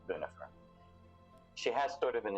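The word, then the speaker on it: Bunefer: B U N E F E R. It's actually the LAU if you if that matters to you, but it's bunifer.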